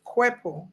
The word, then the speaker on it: Nkwepo: So the N is silent, right? So it's Kwepo.